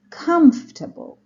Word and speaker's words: comfortable: paying attention to stress comfortable comfortable the stress is on the first syllable so I say come comfortable comfortable arrive